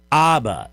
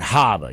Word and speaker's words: Habba: Aba. Not Haba. You don't like the H is silent like where you get that from Bush or Chicago.